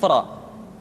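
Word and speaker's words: ر: Berikutnya adalah huruf ra, diucapkan dengan menyentuhkan punggung lidah dengan langit-langit.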